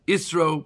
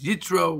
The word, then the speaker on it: Yisro: This week we want to look at Parshas Yisro, Parshas Yitro, whatever we want to pronounce it.